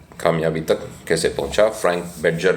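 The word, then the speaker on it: Bettger: तक कैसे पहुंचा फ्रैंक बेजर ने लिखि बेटगर भी इनका उच्चारण करते हैं कुछ लोग बेटगर फ्रैंक बेजर भी इन्ह बुलाया जाता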